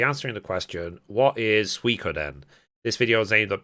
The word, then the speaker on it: Suikoden: So, Suikoden, I did check, that's how you pronounce it, is a role-playing game series that was created by Yoshitaka Maruyama.